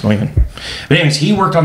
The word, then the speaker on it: Neumann: And it's not an accent. That's how it's pronounced, Neumann.